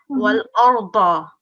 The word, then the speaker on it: وَالْأَرْضَ: Yeah, it's going to be pronounced like a ba, not za. We are not pronouncing the z sound. Wal arda.